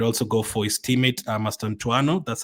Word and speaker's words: Mastantuono: You could also go for his teammate, Mastantuono. That's how you pronounce it.